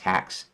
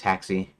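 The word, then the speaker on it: Haxe: that kind of hacks so it might have originally meant um been pronounced hacks but um anyways haxy that's what I pronounce it best game development framewor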